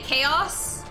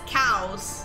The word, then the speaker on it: chaos: super thick accent and he can't say chaos he says cows like a cow and a pasture cow for chaos now i found my